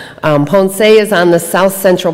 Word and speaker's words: Ponce: island where I'm sorry is ponse I'm saying it wrong pond say is on the south